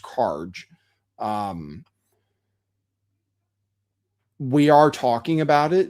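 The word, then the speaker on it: Kharg: We're talking about Karj Island, which I believe it, like I said, is pronounced Karj.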